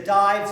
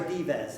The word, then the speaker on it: Dives: his name was either depending upon how you were taught to pronounce it either dives or divas anyone here old enough